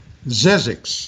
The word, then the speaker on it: Zzyzx: and we get to sizzix road now you know oh yes i do one of my favorite is it sizzix or is it syzygy sizzix yeah well that's the way i've always pronounced yeah i think yeah i've